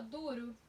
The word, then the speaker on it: duro: Qual é a sílaba mais forte? Duro. Du é mais forte, certo?